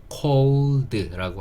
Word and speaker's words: cold: 주의하실 점은 cold 하실 때 L 발음하실 때 cold가 아니고요. 혀가 윗니 뒤에 붙으셔서 cold라고 하셔야 정확한 L 발음을 할 수 있다라는 거, 그거 하나 신경 써주시면 좋을 것 같아요.